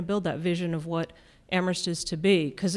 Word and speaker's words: Amherst: But there's a context here, and, you know, we're Amherst, only the H is silent.